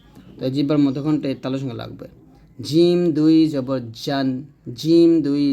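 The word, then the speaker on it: ج: ছা উচ্চারণ করতে হবে এখন শিখবো জিম জিবার মধ্যখান তার বরাবর উপতল লাগিয়ে শক্ত এবং মজবুত আওয়াজে জিম উচ্চারণ করতে হয়। তো জিমটা হবে এরকম যদি আমরা হরকত দেই জিম জবর জা জিম জের জি জিম পেশ জু জা জি জু এরকম আর এই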